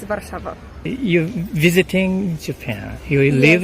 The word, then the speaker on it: Warszawa: Polish it's Warszawa.